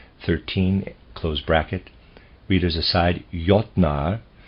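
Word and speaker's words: Jötnar: close bracket readers aside ynar is spelled j o umlout t n a r and I'm pronouncing that ynar probably is more accurate end of readers aside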